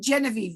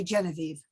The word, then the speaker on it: Genevieve: okay all right and you can pronounce my name genevieve that's the american version there are lots of different versions around the world and i usually go by genevieve genevieve all right now tell